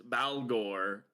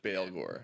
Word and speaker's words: Baalghor: his name, but it's Balore, Omen of the End. I I think that whenever it's B A, it's like Bale Bale. I think Gore Bale Gore.